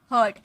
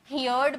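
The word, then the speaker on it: heard: हियर का मतलब होता है सुनना, इसका सेकेंड फॉर्म हर्ड। अब बहुत सारे स्टूडेंट इसे हियर्ड बोलते हैं, हियर्ड। नो, हियर्ड नहीं बोलना है आपको, हर्ड बोलना है।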